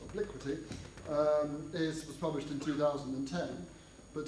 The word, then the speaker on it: Obliquity: And his latest book, which I'm told is should be pronounced Obliquity. I was toying with Obliquity, but it's Obliquity, was published in 2010.